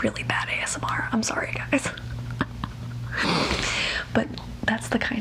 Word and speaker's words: Guy: And then Guy, his name is Guy, they're French Canadian, so his name is Guy, but you pronounce it Guy up there.